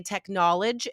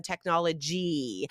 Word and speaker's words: technology: from China for example might say technolog instead of technology so make sure guys when a word ends with that final why that e sound when you pronounce it do say it out loud okay because that is